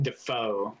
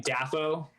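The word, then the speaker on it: Dafoe: of right now william defoe actually though and everybody's been pronouncing it wrong for the past 40 years i just learned that wait what is it william daffo huh that's done whatever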